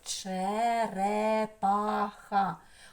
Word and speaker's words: черепаха: черепаха черепаха пропускаємо через куди сила голосу на третій склад ха вже Тише співається іще